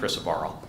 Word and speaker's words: crisaborole: One is for the drug crisaborole, and I'm going to pronounce it that way because that's how the manufacturer pronounced it on the first phone call we had with them, although I've heard all sorts of people in the know also say crisaborole, so, but I'm going with crisaborole.